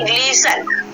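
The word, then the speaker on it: glisten: जी एल आई एस टी ई एन, ग्लिशन, ठीक है। ग्लिस्टर नहीं बोलेंगे, इसको क्या बोलेंगे? ग्लिसन। उसके बाद एच ए टी एच, ठीक है, हैज।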